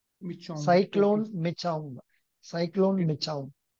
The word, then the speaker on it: Michaung: Michaung. Michaung. Michaung.